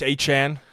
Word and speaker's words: Etienne: You got Travis Etienne. That's how it's pronounced now.